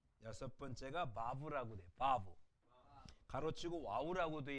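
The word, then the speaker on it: וו: 이걸 만약에 독일식으로 발음하면 와우가 아니라 바브가 돼야 돼요. 그렇죠? 지금도 히브리 사람들 이거는 우 발음하지 않아요. 부 발음해요. 부. 그러니까 두 번째 베이과는 달리 부이 발음해요. 부. 그러니까 바브가 맞죠. 바브라고 있습니다.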